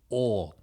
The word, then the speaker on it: og: Or well, in Norwegian OG is or I mean like end. It's end. Oh. Oh. So it sounds like or in our language, but it's actually end.